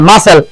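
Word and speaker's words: muscle: conscious अब से MUS अरे बोलते मास सेल मसल एनो मसल इधर है सी राव साइलेंट मसल इधर श्वेता बल्ला जीवन की गुस्ता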